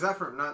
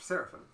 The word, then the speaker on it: Zephyrim: Yeah, so there's Zephyrim, not Seraphim. Zephyrs, that's what I said. You said Seraphim at first.